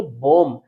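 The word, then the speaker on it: bomb: Next है बी ओ एम बी। इसको इसको भी हम रीड करेंगे। बम नेक्स्ट है डम।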